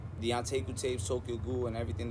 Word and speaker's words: Anteiku: Anteiku. Nah, there's a lot of people that don't really know how to say that, pronounce that right.